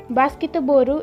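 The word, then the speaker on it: バスケットボール: Okay, so basketboru is the correct pronunciation for basketball.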